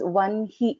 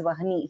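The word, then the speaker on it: वह्नि: So though this is written as ha, na and ikara here, we will pronounce this as vanhi mandala vasini only, not as vahani here.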